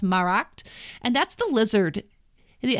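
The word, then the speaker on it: Smaragd: that is smell and most of us say smart because we don't know any better Smar AGD but it's actually pronounced marked and that's the lizard it hangs out in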